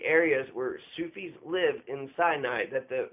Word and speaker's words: Sufi: So Salafi, 3 syllables, Sufi, 2 syllables.